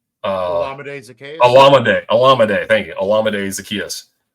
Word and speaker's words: Olamide: I'm going to screw the pronunciation. Olamide Zaccheaus. Olamide.